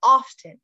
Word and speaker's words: often: This was interesting because it looks like it's spelled often, and you can say it two ways. You can say exactly how it's spelled, often. Like, I often do this thing. It happens a lot, right? I often go to the store. But you can also just say it without the T.